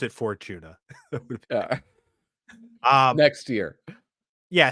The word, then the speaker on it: Fortuna: It would be better if you said Fortuna. If you'd pronounced it Fortuna.